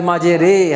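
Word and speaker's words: مجريها: হবে ওটাকে এমালা বলে কোরআন শরীফের মধ্যে শুধু একটা জায়গার মধ্যে এমালা আছে যেমন বিসমিল্লাহি মাজেরে হা কেমন এই মাজেরে এখানে শুধু এককার হবে তাহলে জেরের ব্যাপারে কথা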